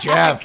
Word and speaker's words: Geoff: Geoff. Yeah. Right. Well, that or it's like spelt in like weird eldritch letters, right? Like it's pronounced Jeff.